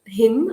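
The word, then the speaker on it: hymn: court right um h-y-m-n him uh the the last n is a silent so so you can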